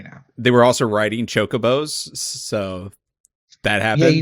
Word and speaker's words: Chocobo: People pronounce it Kukubo. Kukubo? Yeah. I don't like that. I don't care for that one bit. It'll always be Chocobo. Should be Chocobo.